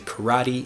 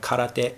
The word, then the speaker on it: karate: is true for karate we say karate in English instead of karate in Japanese and also we have